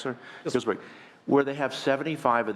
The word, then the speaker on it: Healdsburg: Healdsburg, is that pronounced correct, sir? Healdsburg.